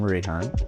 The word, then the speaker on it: Rayhaan: By the way, if we haven't met before, I'm Rayhan, rhymes with Ray-Ban, like the glasses, and I'm an ambitious introvert.